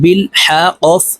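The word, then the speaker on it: بِالْحَقِّ: তা, বা লাম জির বিল, হা কফ জবর হক, বিল হক, কফ জির কি, বিল হক, কফকে ওয়াকফের ক্ষেত্রে সাকিন করে ফেলবো। কফ যেহেতু কলকলার হরফ, উপরের দিকে ধাবিত করে ধাক্কা দিয়ে উচ্চারণ করব।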